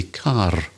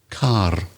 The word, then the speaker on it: car: end of a word, for example, in the south, they would say the car, but I would say car. So at the A, I put my tongue at the roof of my mouth and pronounce the R, car. Whereas you would, Craig, being from the southeast, would say car. Car. Without, you don't hear the R.